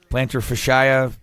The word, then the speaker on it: plantar fascia: plantar fascia is that how you say it plantar fascia a fashio fashion you had it right [